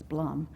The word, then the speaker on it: Bloom: Yeah, Peter and I both have met Stephen Bloom from, I call him Stephen Bloom even though he pronounces it wrongly. He says Blum.